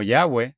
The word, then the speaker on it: Yahweh: Porque cuando el texto dice Señor con letras mayúsculas, en realidad es Jehová en el hebreo Yud-Hei Vav-Hei, que algunas personas pronuncian como Yahweh, Yud-Hei Vav-Hei, y Moisés dijo a Jehová o Yahweh, oh Adonai.